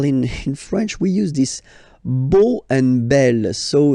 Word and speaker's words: beau: So remember this E, A, U combination of vowels only give you the sound O, beau.